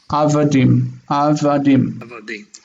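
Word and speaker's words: עבדים: And it's avadim. With the accent on the last syllable.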